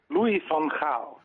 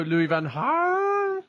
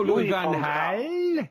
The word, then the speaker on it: Louis van Gaal: And this is the message from Michiel Jongsma about how he believes the manager's name should be pronounced. This is a message for Mike Parry. Louis van Gaal.